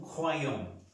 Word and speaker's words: croyons: Croix, pero cuando está una Y, pronunciamos UA más esa I. Croyons. Croyons. Croyons. De todas maneras, pronunciamos la UA más la Y.